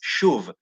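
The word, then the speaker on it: שוב: It's shuv, shin vav vet, shuv.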